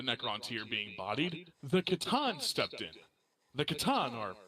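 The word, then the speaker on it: C'tan: fairly saying it's just Katan so is it like katana like weabo no no it's like C apostrophe T an yeah I just pronounce it as Katan oh like kathon but Katan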